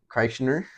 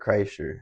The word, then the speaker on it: Kreischer: Kreischer episode. Kreischer? Yeah. Nice. How do you say his name? Bert Kreischer.